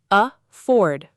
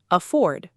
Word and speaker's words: afford: Afford. Two syllables, stress on the second. Afford.